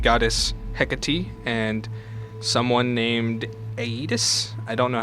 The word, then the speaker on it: Aeetes: It's Perse, or the goddess Hekate and someone named Aeetes? I don't know how to pronounce that exactly. It's Aeetes.